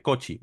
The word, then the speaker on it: Cauchy: Bien, ahora, criterio de la raíz, o de Cauchy, o de Cauchy, depende de cómo lo queramos pronunciar, ¿vale?